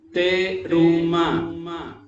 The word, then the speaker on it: Terumá: Terumá. Así como se pronuncia ya.